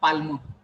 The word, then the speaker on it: palm: You should not call palm. Which letter is silent? L. L. L is silent.